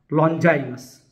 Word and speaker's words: लोंगिनुस: लॉन्गिनुस, अंग्रेजी उच्चारण लॉन्जाइनस, का पेरी इप्सुस पाश्चात्य साहित्य शास्त्र का अरस्तु के काव्यशास्त्र पेरी पोइटिकेस के बाद दूसरा प्रमुख ग्रंथ माना जाता है।